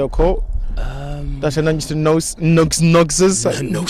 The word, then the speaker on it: gnosis: That's when you to noses. It's a silent G, but I pronounce the G because it just sounds gnosis.